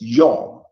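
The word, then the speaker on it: יום: for day in Hebrew it's pronounced as young it uses a yod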